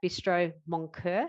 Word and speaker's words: Bistro Moncur: He spent 7 years as an executive chef at Bistro Moncur. Have I pronounced that correctly?